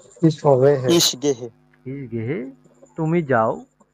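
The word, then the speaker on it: ich gehe: স্পেসটা কেটে দিচ্ছি তাহলে হচ্ছে আমি যাই এটার উচ্চারণ কি হচ্ছে কেউ একজন বলেন তো ইস হবে ইস গেহে ইস গেহে তুমি যাও ডু গেস্ট ডু গেস্ট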